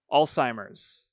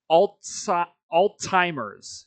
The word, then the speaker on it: Alzheimer's: I hear people say Alzheimer's and I'm like, there's no fucking T, chat.